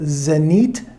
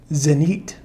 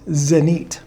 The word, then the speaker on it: Zenit: and he went no zenite so the proper pronunciation according to my ukrainian friend is zenite this was the zanit